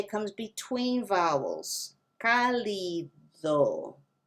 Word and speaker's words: cálido: It's not even the D sound in Spanish. It's more of a TH. Cálido, paladar, dádiva. And now that's a little tricky. You have the D sound at the beginning, and then you have that slight TH sound when you say the D syllable. Dádiva, dados. The D sound is different. It's a really, really, really soft TH. It's not th, it's just the hint of th.